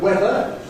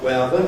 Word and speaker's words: weather: Well, one misunderstanding there, the word weather. This person thinks it's pronounced weather. Well, it isn't, not weather, it's weather. Perhaps misled by the spelling with EA.